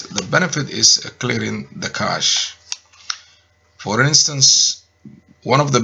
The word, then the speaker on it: cache: do you pronounce it not cashier but cash so if i repeat